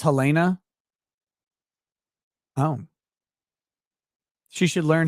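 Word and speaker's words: Halyna: It's pronounced Helena.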